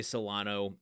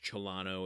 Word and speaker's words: Solano: I say Solano. It's sometimes pronounced Cholano if you want to be very accurate about it.